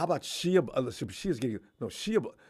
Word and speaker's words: Shia: Shia's getting Shia. How do you pronounce his name?